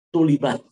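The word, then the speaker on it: طُلِبَت: Kemudian kata beliau, ya, atau ya bukan tolabat, itu maknanya li'annahu huwa alladhi tulibat al bada'atu bihi. Lebih bagus dibacanya tulibat, diminta.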